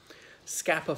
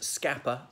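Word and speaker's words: Scapa: Whereas scapper, as in the place, scapper flow is S-C-A-P-A.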